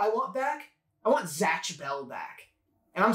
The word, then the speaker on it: Zatch: is there a t in there is it z-a-t-c-h yeah Zatch Zatch or are you just butchering